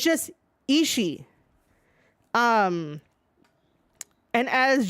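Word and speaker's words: Ishii: is not isi e you do not pronounce that second I it's just isi um and as G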